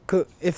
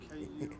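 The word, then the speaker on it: སྐུའི: The pronunciation is just add a Y on, because we don't say yi. We say ku. If it's like, if I was going to say of the body, what's this transcription? SKU apostrophe I. Wait, SKU apostrophe I. That's the transcription, and we do it in capital letters just to make it easier. Now, give me the pronunciation. KUY. Yeah, KUI, perfect.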